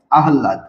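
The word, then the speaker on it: আহ্লাদ: আছে ব্রাহ্মণ তারপরে দেখেন আহলা শব্দের উচ্চারণটা দেখেন হ এবং ল এবং হল থাকার কারণে কি হবে ল এর উচ্চারণ আগে হবে আর হ এর উচ্চারণ পরে হবে হ এর উচ্চারণ কি হবে পরে হবে আহলাদ ঠিক আছে তো আমরা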